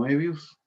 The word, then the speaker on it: Moebius: Este cómic está hecho por Jean Giraud, o también conocido como Moebius, así se pronuncia, y es el dibujante, probablemente el dibujante